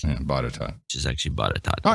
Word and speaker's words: Botetourt: We've got the only Indian Polacks in Bottencourt County, Virginia. Botetourt. Botetourt. Yeah, Botetourt. Which is actually Botetourt.